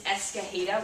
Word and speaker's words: Escajeda: excited to be here my name is miss escaheda which is kind of hard to pronounce because they threw this ring j in there right the j is pronounced like an h uh you can call